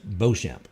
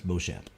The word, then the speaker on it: Beauchamp: Right there in the bottom, that pronunciation for your that's Judge Beauchamp. That's Beauchamp. Well, what did I call her or him?